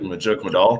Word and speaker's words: Majuk Madal: Well, my name actually like Majuk Madal. That's how you say it.